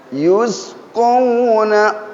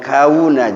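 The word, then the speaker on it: يسقون: Yusqawna, qauna ya, jangan kauna, jangan. Kauna kaf berarti.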